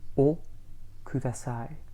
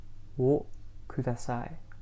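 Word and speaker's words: をください: Now the word for may I have is o kudasai. O kudasai. Okay, and we would spell that O and then a separate word, Ku ku da da sai. Sai.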